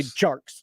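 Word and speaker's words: Tjarks: it no no no i just really enjoy hearing him say sharks sharks like jorts did you know there's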